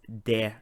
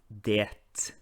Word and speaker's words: det: in there it's pronounced there and not diet so you should not pronounce the t at the end of the now let's